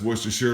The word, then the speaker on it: Worcestershire: All right, remember that's Worcestershire. A lot of people don't pronounce it well. This final syllable is going to be pronounced like New Hampshire.